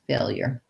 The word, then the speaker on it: failure: Okay, so failure, first syllable stress, failure.